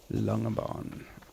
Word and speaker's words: Langebaan: see a little town in a bay called Langebaan, and that is spelled Langebaan. Langebaan.